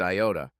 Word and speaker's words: iota: laughed and said dude is the Greek letter Iota and is usually pronounced Iota Vic continue to inform